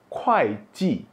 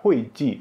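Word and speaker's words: 会计: Kalau baca hui ji, salah. Ini bacanya kuai ji.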